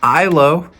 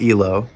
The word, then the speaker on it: Ihlo: A new release from ISO, not Elo, but progressive metal band from the UK.